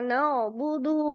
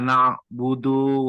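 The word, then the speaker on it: نَعْبُدُ: lagi atau lanjut iyyaka na'budu wa iyyaka nasta'in Oke Gus ee Pak Rifi iya siap pakuda iyaka na'budu Wa iyyaka nasta Oke bagus tapi tadi budunya agak kepanjangan dikit iyaka nabudu wa iaka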